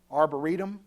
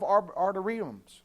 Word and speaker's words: arboretum: word for parks uh arboretum is that the word that we have nowadays he built himself arteriums however you say it i said it right the first time don't laugh at me